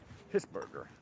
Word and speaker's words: Hesburger: Hisburger. But you pronounce it any way I want, because if